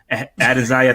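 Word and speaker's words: Adesanya: call him lasagna uh added zaya this is how you say his name but yo you can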